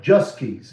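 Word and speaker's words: Joske's: Juskey's. It's spelled Joskes.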